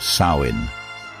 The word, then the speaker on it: Samhain: Long before candy corn and costumes, the Celts of Ireland and Britain observed Samhain, pronounced Samhain.